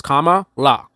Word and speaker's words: Kamala: it's not that difficult if I say to you hey it's comma LA right that's very easy